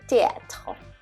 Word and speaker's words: théâtre: On the other hand, in French, when you have a word that has a TH in it, the H is always silent. So the TH combination is pronounced as a regular T.